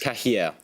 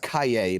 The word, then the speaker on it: Cahiers: The same word precedes Dinema in the name of a journal founded Trinity Merchant Cah. Yes, it's pronounced Cay, but I'll accept that.